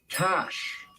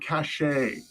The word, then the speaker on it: cache: not nuclear people Antarctic not actually it's not pronounced Antarctic next up it's cash not cachet cachet is actually French for Tide next oh